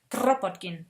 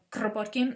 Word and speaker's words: Kropotkin: Russian named Peter Kropotkin (I’m sorry, still cannot pronounce this German “r”) – Kropotkin, he’s Russian, but we’ll pronounce his name in German.